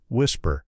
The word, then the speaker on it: WSPR: It is called the weak signal propagation reporter network or WSPR's pronounced whisper and it is the backbone of his claim to have solved what the world's largest search effort could not.